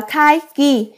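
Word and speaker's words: 会議: trong nghĩa là hội nghị hội nghị này đọc là khai ghi khai ghi đúng không ạ ạ giám đốc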